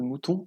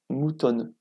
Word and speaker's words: mouton: Donc là on a par exemple le N de mouton qu'on ne prononce pas, alors que dans le N, on a le petit nœud qui apparaît.